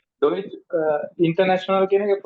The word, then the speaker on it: international: Deutsch international. Ist das klar? Okay නේ? Deutsch international කියන එක pronunciation එක පොඩ්ඩක් කියන්න. International. International. International. Tion කියන්නේ කියයි. Tion. Okay, Tion. Internation. Ja, international.